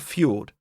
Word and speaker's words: fjord: In some Swedish words, J is pronounced as ye. Think of fjord.